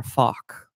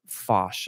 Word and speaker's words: Fach: I go back and forth on the pronunciation of that. I think that there's a French word, fache, and if that's the case, I'm going to go back to fache, because saying fach, it just feels uncomfortable to me.